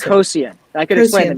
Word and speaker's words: Coasian: Coasian. I could explain the Coasian. name. So it's not okay. Co-Asian. It's Coasian because it's Coasian. named after the economist Ronald Coase.